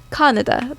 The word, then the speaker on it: Kaneda: We do our E's a little differently in Kaneda. The King's English, but yeah, it's Kaneda. Yeah. Kaneda.